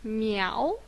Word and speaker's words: 猫: This one we pronounce as miáo.